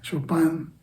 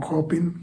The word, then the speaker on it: Chopin: Y luego tiene otra página en blanco para tener como un reposo, y después trae una partitura de Chopin o Chopin, como es otra pronunciación del apellido del músico, que dice en el poema, es que esto solo puede entenderse por esta música de Chopin.